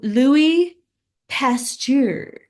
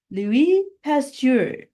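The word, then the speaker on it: Louis Pasteur: it's week nine Lou Louie pasture Louie pasture he's French so I'm trying to say it like a French person would but it's one two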